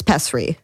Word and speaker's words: pessary: It's pessary. Pestry. Like Petri? Pessry is what my mom...